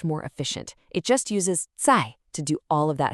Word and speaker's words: 在: And this word is 在, pronounced 在.